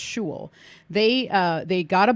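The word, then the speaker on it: Xolo: is a place called shul but it's spelled x-o-l-o okay but I'm pretty sure it's pronounced Jewel they uh they got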